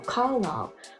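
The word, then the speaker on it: Carlisle: I saw the movies and I said car car Cullen car cullin is how you say this guy's name and then I get into the movie and I hear everybody saying car carile carile and I was like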